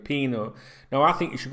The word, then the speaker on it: Pino: His first name is Yeremy, Yeremy, and his surname is Pino, Pino. The Yeremy can be spelt with an I instead of a Y sometimes as well.